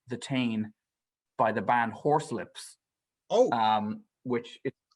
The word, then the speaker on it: Horslips: Apparently, they're it comes from a Spoonerism that was like the four poxmen of the Horselips. But it's spelled Horslips. Horselips. I'm sure there was another.